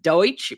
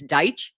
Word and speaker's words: Deitch: Now, I was calling him Deutsch, but that's not correct. It's Deitch. Is that it?